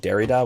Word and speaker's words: Derrida: two ways i've heard derrida and derida most scholars i know pronounce it derrida with the emphasis on the first syllable uh i believe that's